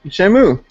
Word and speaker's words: Shamu: Shamu. It's like shampoo.